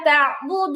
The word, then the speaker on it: تعبدون: قل قل يا يا أيها أيها الكافرون الكافرون لا أعبد ما تعبدون. لا لا أعبد أعبد ما ما تعبدون لا أعبد ما تعبدون. لا لا أعبد أعبد ما ما تعبدون تعبدون না বুদুন, تعبدون.